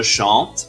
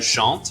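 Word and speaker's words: chante: the most common ending the letter e this one will appear whenever you use the word je el or one person's name and it's silent for example je chant is icing gem is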